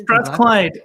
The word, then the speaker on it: Strathclyde: And then was it Sorry, how do you pronounce the name of the university that you went to? Strathclyde, is it? Strathclyde, the place of useful learning, so they say.